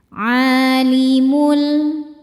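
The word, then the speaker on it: عالم: Alimul a hukumnya mad thobi'i muqaddar karena ain berharakat fathah panjang. Cara bacanya panjang dua harakat. Alimul.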